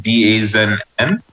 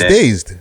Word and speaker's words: Dazed: is it Dazn? My dyslexia kick in when I found that story earlier. No. It's just that's how I believe that's how it's pronounced. No, it's Dazed magazine, British magazine, Dazed.